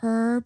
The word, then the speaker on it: herb: mention one thing um the British say herb with an H yeah and the Americans leave the H out and we say herbal yeah I noticed that